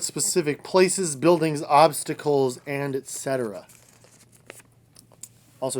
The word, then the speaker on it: etc.: Give details like what specific places, buildings, obstacles, and etc. Also, it's etc. with a T, not etc. with an X. There's no such thing. You shouldn't be pronouncing it that way.